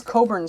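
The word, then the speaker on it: Cockburn: turn and this is Coburn Street it is not written how it's pronounced and it's not pronounced how it's written and I'll let you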